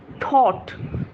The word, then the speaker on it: thought: আর তারপরে THOUGHT, এটা pronunciation হচ্ছে আই থট, থট।